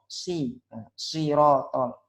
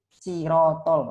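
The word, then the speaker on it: صراط: Nah, yang benar kan sirotol. Ada yang bacanya pakai sin, sirotol. Nah, itu beda artinya dan jelas salah. Ada yang pakai shin, shirotol, nah, pakai shin. Padahal yang benar sot, sirotol.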